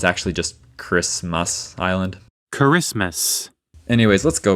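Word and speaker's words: Kiritimati: The island is listed as Kiriti Mati, but I remembered that you're supposed to pronounce the ti as s. So I was pronouncing as karice, but it's actually just Christmas island Christmas.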